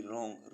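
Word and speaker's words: wrong: मीस ठीक या दाया ऐसे वर्स जिनमें डब्लू साइलेंट रहता है डब्लू आर ओ एन जी रंग रंग मीस गलत डब्लू आर ओ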